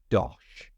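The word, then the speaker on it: dosh: आइए इस महत्वपूर्ण शब्द दोश से शुरू करें इसे सही ढंग से उच्चारण करने के लिए सुनिश्चित करें कि आपने ठीक बीच में एक अच्छा ओ ध्वनि डाला है दोश यू यूके में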